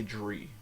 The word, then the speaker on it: drie: You don't say drie. You say drie. You say drie and roll your R. Or you can do it in the back of the throat and go drie.